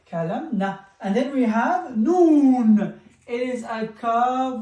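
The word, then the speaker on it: ه: Ha, ha, which is the H in English.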